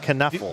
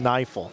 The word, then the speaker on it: Kniefel: And is it Neifel? Is that how you say his name? Or is it Kneffel? No, DJ Neifel. I believe. Neifel, thank you.